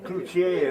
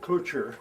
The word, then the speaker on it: Cloutier: The cloutier is in French, you know. Okay. The T is silent in French. Cloutier is supposed to be. Okay. And they come out with clouture.